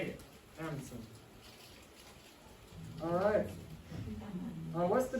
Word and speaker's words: Anundsen: Anderson.